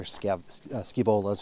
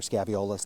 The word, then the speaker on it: Scaevolas: Much more color on that one than what we see from a lot of the other Scaevolas or Scaviolas, depending on how you like to pronounce it.